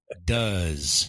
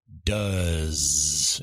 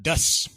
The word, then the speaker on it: does: say after me please does and it's not dust it's does oh that's right there is kind of a z sound a z sound at the end instead of an S sound okay I hadn't thought